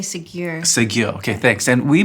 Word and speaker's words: Ségur: validate the story, and that is to Monsignor Seigneur. Did I pronounce that right? I say Ségur.